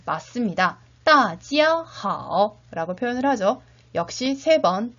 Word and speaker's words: 大家好: 역시 눈으로 잘 익히면서 같이 발음해 보도록 합시다. 大家好, 大家好, 大家好.